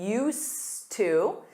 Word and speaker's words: used to: Notice that pronunciation used to.